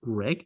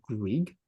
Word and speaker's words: Greig: Greg, it is pronounced Greg. It's not Grieg.